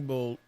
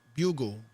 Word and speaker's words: Bugle: Evening Bogue, or is it Beagle? I don't know how you. Bugle, that's how you say it.